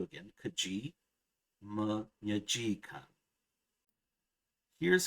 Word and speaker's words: keji: However, the accent jumps to the last syllable if the second to last syllable contains an e with the schwa sound. So in example 1b, it's not keji, it's keji for vile.